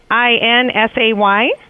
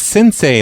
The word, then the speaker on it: Sensei: Okay, so is the Sensei Sinsay? No, it's Sensei, like a sensei. Like a black belt, you know?